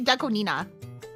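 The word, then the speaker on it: Deco*27: It's actually It's It's actually It's actually Decoina.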